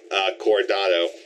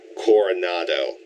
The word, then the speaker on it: Coronado: And it's weird for this one because, like, you know, with Tomorrow as well as for Coronado. No, that's not how you pronounce it. Coronado. Yeah, that's it.